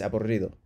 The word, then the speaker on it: aburrido: Double R, let yourself go. R. Porque es aburrido.